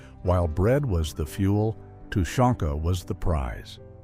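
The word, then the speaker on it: тушёнка: While bread was the fuel, Tanka was the prize. The name which is pronounced Tonka just means stewed meat.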